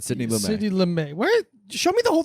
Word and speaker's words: Lumet: Sidney Lumet, and Lumet is spelled very French. Lumet. Lumet. You kind of like really lean back on the T there.